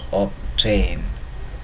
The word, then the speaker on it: obtain: Obtain is an exception, it cannot become silent, it is the rarest of the rare kind.